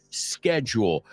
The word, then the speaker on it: schedule: Of course, it depends on your schedule. Just be careful. I say schedule. The British say shh, como callar a alguien, schedule.